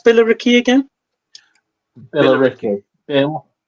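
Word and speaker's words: Billericay: looking to that hang God how do you pronounce biller Ricky again Bill Ricky Bill Bill e Ricky yeah uh so that that seat in particular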